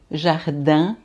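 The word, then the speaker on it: jardin: Ien, né? Vai ser jardã. Jardã. Lembra do pier cardã? Então, a mesma coisa. Então, jardã é, quer dizer jardim, né?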